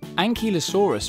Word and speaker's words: Ankylosaurus: Ankylosaurus.